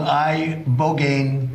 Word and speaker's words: ibogaine: It's called ibogaine. Here we go. Treatment. Listen to Joe Rogan. Ibogaine. Remember the name. Is that pronounced relatively properly, would you say?